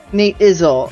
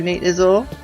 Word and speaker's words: Nate Izzle: You pronounce it Nate Izzle. Oh, I'm sorry. Not Izzy. No worries, though. I will remember that for the future, Nate Izzle.